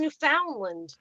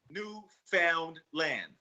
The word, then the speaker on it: Newfoundland: say newfound land you don't pronounce it like that oh crap okay good to